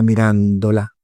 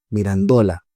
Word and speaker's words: Mirandola: del 1400 y pico de la mirándola, de la mirandola, mirandola en eh es la es la pronunciación pico de la mirandola lleva un discurso que se llama el discurso de la dignidad humana.